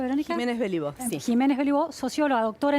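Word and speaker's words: Giménez Béliveau: Estamos para analizar cómo se han comportado las creencias en Argentina con Verónica Belibo, ¿así se pronuncia, Verónica? Jiménez Belibo, sí.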